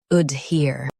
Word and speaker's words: adhere: ad here adhere Stress here and keep ad light.